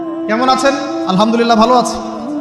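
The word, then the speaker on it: الحمد لله: আলহামদুলিল্লাহ ভালো আছে। তো আলহামদুলিল্লাহ না বলে সে বলেছে আলহামদুলিল্লাহ। ওই যে হায়ের উচ্চারণ পরিবর্তন হয়ে গেছে, এই কারণে অর্থ পরিবর্তন হয়ে দাঁড়াবে যে সমস্ত নিন্দা আল্লাহর জন্য, যিনি জগৎসমূহের রব।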